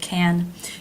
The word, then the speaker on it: can: an ear for this a note on the pronunciation of the word can you've probably noticed that this word often reduces